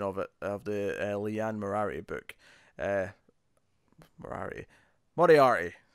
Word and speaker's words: Moriarty: Moriarty, to say it properly.